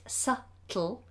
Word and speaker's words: subtle: sets so subtly subtly now the word subtle has a silent letter in it has a silent B in it subtle subtly so oh no